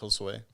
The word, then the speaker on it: Josue: And then now I'm like, it's Josue. And then, they're like, oh, Jose. And I'm like, it's Josue.